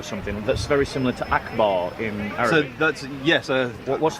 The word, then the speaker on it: Akbar: this one here yeah Akbar and it's pronounced Akbar yep right so every